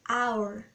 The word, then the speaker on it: hour: tem algumas palavras onde ele vai ter um som mudo uma pronúncia muda quando a gente vai pronunciando o h nem vai aparecer lá a gente vai escrever com h mas na hora de pronunciar e já fingir que ele não tá lá tá bom e lá na muda ele pode ser percebido em algumas palavras como hour e no caso seria